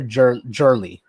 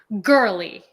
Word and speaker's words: Girly: Is it Girly or Jurly? Girly. Oh, Girly. Mm-hmm. As in Girly. Like Tita Girly.